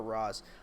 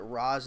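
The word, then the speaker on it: Ra's: How do you prefer to pronounce Ray Shuggle's name? Ray Shuggle or Roz?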